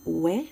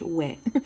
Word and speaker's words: Ouai: Next product I received in my bag is the Ouai. I don't know if I'm pronouncing that correctly, Ouai, but I am French Canadian and that's how I would say it in French, Ouai.